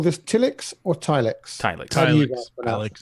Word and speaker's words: Tilix: of all, are we going to call this Tilix or TileX? TileX. Okay, so I don't know. Let's consult how to pronounce to figure that out.